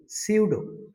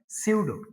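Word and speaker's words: pseudo: হ্যাঁ, এরপরে আরেকটা ওয়ার্ড মিনিং সিউডো। শব্দটা পি দিয়ে শুরু হলেও এর উচ্চারণটা হয় সিউডো। সিউডো।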